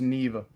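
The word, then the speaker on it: Niamh: Emily gets it yeah n-i-a-m-h is Neva that's funny yeah he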